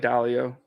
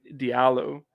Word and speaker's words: Diallo: I like Dalio. I think most people say Diallo, but I like Dalio.